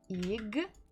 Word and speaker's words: игра: Игра. Игра. Игра. So here we stress буква А. Ударение падает на букву А. The stress falls on letter A.